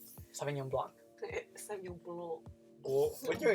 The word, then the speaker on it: Sauvignon Blanc: How do you say Sauvignon Blanc? Sauvignon Blanc. Sauvignon Blanc. Oh, when you're in Georgia, son. You're in Georgia, kid. It's kind of like saying blunt.